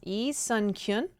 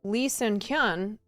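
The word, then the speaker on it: 이선균: But his name is Lee Sun, I think it's I think the Koreans pronounce Lee Sun-kyun.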